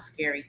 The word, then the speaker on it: S.C.A.R.I.: Well, I pronounce it scary, but that's it.